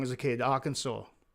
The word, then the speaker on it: Arkansas: Arkansas. I used to think it was our Kansas.